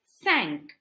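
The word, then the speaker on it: cinq: till the word for five in French is sank so Ile sanker now how do you say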